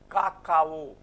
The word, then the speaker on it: cacao: Cacao. Why ka? Whenever C is followed by any other vowel except for E and I, whenever it is followed by these three sound systems you have to follow.